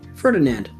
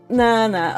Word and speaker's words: Fernand: I I called him Ferdinand. Fernand.